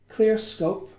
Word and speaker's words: Clearscope: So Clearscope, I've said it right this time.